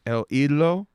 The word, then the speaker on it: El Idolo: El Idolo.